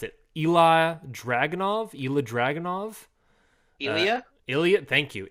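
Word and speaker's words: Ilja Dragunov: Pronounce it. Ilya Dragunov. Thank you. Ilya Dragunov.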